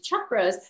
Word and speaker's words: chakra: And the chakra system, and it's pronounced Chuck, as in your best friend Chuck, because that's how you say it in Sanskrit.